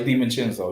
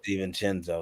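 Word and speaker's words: DiVincenzo: last season was missing you said it right Sten chinzo you said it right Steen chenzo excuse me Ste chinzo he was missing majority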